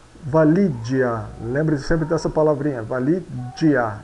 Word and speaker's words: valigia: som de x piscina o g ele soa como um um DG né John joh de da